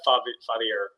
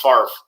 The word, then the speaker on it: Favre: That's Favre, not Fadir. It's pronounced Favre.